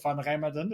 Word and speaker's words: Remmerden: I've got Remdan and uh I'm not sure if I completely butchered your name there but Framed.